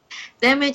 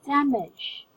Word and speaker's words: damage: Most of my students pronounce this as damage. It's just damage. Damage. It's a Very good. Yeah, it's a short A, damage. And then On the second syllable, it's just a short E. Damage.